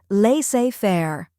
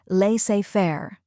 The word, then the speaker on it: laissez-faire: The correct pronunciation is laissez-faire. Let's break it down. First, we have lay, which sounds like let but without the T sound.